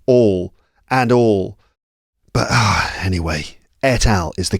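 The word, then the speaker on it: et al.: So if you hear me say etal, it means I've had to replace myself saying etal with the correct pronunciation which is that's right etal.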